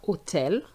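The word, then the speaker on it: hôtel: h so we have otel we don't pronounce the h and we have IBU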